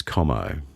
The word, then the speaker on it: Como: Correct pronunciation, as you prefer, is Como. Yeah, it's an anglicised version, but I'm an Anglophile, so.